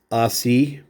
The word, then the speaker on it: Ossie: Don Ossie, and that is how you say that for those of you that weren't alive during the time or are unsure. It's Ossie.